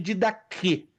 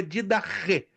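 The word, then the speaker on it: διδαχή: Alguns dizem didache, mas a pronúncia correta no grego é didache.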